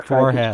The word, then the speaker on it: Forhez: Richard, is it pronounced Forhez or Forhez? No, you've got it correctly there. Forhez.